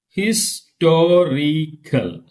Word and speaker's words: historical: Historical. 1, 2, 3. Third syllable from them. Historical.